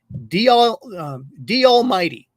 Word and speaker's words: DALMYD: It's D Almighty, and it's spelled DALMYD.